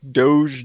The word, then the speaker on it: doge: super chats with doge doge is that how do you say that i mispronounce everything this is what i was calling a doggy coin and it's almost like it's doge coin i'm like like dosia cat and they're like no like doge the dog thing i